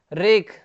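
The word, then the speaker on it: wreck: और भी देखते हैं रेक, रेक में भी क्या है, रेक मतलब क्या होता है, मलबा होता है, इसमें भी डब्लू क्या है, साइलेंट है।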